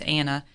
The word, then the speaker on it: Annah: Your H is silent, and it's like Anna.